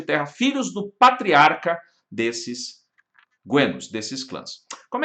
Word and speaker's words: genos: É o momento no qual as comunidades gentílicas, os guenos, se escreve genos, mas pronuncia guenos, vão se unindo através